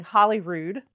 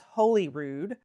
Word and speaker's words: Holyrood: I did just learn recently I was pronouncing Holyrood wrong. I was saying Hollyrood, and it's Holyrood. You know, we think Hollywood, I guess.